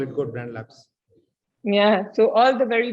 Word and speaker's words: G.O.A.T Brand Labs: So how do you pronounce this? So Goat Brand Labs because it has greatest of all time built into it.